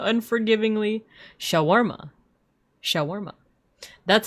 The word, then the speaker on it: shawarma: Sha, I cry out to white people while continued to schwarma unforgivingly. Shawarma.